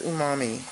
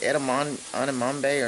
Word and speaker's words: umami: It is umami. I was saying it wrong. I think I said edamame or something like that.